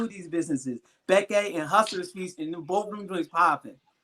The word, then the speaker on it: Bekke: She is the CEO of Bekke Beauty.